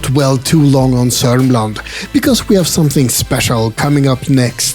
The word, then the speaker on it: Södermanland: It's spelled Södermanland, South Man Land, but you pronounce it as Sörmland. Don't believe anything when it comes to Swedish spelling and pronunciation. In Sörmland, you find a lot